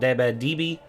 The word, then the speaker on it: Debe: Of course, I called Debe Deeb the whole time. It's Debe.